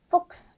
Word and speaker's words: Fuchs: 체하 S 세 가지 조합이 되어 있는데요. 그랬을 때 발음이 X 발음이 납니다. 그래서 써보자면 이런 발음으로도 쓸 수 있을 것 같아요. 그럼 단어 읽어볼까요? 네. Fuchs.